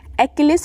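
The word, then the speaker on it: Achilles: double L ई एस ध्यान दीजिएगा spelling पे एकलस इसको प्रोनाउंस करते हैं हील जिसका अर्थ होता है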